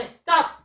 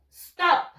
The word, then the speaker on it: stop: To stop. Stop. Parar. Stop. A ver, ¿qué nos dice la regla? Un solo sonido. To stop. Una sola sílaba.